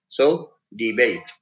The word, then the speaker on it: debate: There it's a verb, and therefore the accent is on the second syllable, bait. So debate.